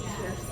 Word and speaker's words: Kirstie: Also, how do you pronounce her name? Is it Kirstie? It's Kirsty. Kirsty. I feel like she would correct you every time you say it. It's, Right. it's pronounced Kirsty.